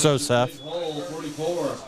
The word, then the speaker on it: Sosef: I want to try to keep putting an extra syllable in there, but just Sosef.